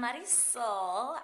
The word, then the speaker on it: Marisol: I'm Marisol. I am Marisol. Marisol. I'll give you a hint. It rhymes with body. Mari, body, Marisol.